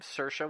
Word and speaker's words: Saoirse: you pronounce her name Saoirse we looked it up it's like inertia she's had three nominations